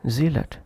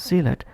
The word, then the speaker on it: zealot: Or word zealot, instead of pronouncing as zealot, if said zealot, zealot, sounds unnatural.